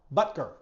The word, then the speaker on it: Butker: Butker. I always want to put an extra syllable in there.